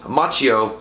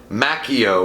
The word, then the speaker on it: Macchio: Ralph Macchio he said pronounce Macchio like The Karate Kid actor not makio or Macchio like I drink from Starbucks so wait dude you